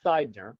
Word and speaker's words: Sidner: Last name is Sidner, pronounced life side of a house, but spelled S I D N E R.